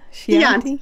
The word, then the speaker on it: Chianti: two is, can I pronounce that one? The Chianti. Chianti, yeah.